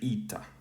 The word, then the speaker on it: ήτα: Now, in modern pronunciation, again, this has become, in classical, this was e. In modern, this, like I said, it's a vowel sound that's converged to e. So the modern Greek speaker would say ita here.